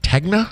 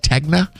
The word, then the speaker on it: Tegna: Is it Tegna? Is that how that's pronounced? Tegna.